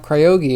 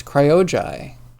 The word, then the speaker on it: Cryojai: It's not Cryogi, it's Cryojai.